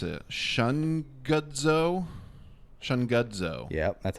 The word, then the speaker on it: Shungudzo: I don't know how to pronounce it. Shungudzo.